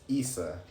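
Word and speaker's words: Isa: So it says the next rune is Issa, pronounced Issa, like Issa Rae, but it's like, well, they don't spell it like that, but it's I-S, right?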